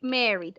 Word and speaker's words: married: we say mary yes the letter e is silent all right so remember we're going to say married i am married no i am married